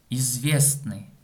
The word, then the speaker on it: известный: Известный. Ударение на букве Е. Известный. Известный. Но когда мы произносим слово, мы говорим известный. То есть вот эта согласная буква Т отпадает.